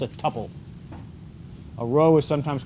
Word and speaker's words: tuple: it's also called a tuple a row is sometimes called a couple rhymes with couple so you would have